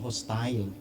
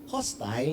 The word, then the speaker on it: hostile: Ang sabi nila mali daw ang hostile. Hostile is a pronunciation of probinsya ni Felix, Europe. Pero sa America ang pronounce niyan ay hostil. Kaya ngayon kung gusto mong gamitin ang So if you're from Europe accepted ang hostile. It's hostile everybody. So hostil so papaano man i-pronounce yan? Walang mali diyan accepted.